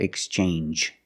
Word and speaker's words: exchange: you see NG G it makes the N sound like orange or exchange you make the n Sound not the nasal sound just n and the J like juice J together orange orange or exchange change or exchange you have the same sound NJ this word too challenge